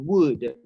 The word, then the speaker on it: would: that is the pronunciation would the letter l is not pronounced okay the letter l